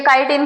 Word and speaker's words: chitin: इनकी जो कोशिका भित्ति होती है वो काइटिन, ये काइटिन की स्पेलिंग है, देख लेना, CHITIN, ये काइटिन की बनी हुई होती है, जैसे केमिस्ट्री को चेमिस्ट्री बोला जाता है।